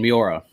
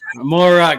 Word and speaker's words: Moira: awesome guest good friend of mine uh megan miura i think i said it wrong again you even told me how to say it mora god yeah that's a name i have never